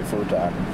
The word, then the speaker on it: futon: Like what I wanted an excuse to say futon. Ah, yes. It rhymes with crouton.